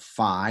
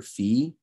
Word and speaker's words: phi: um then we have phi or phi and that's a ph sound like in phone you can see if